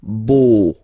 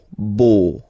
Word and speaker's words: beau: So remember this E, A, U combination of vowels only give you the sound O, beau, beau, okay?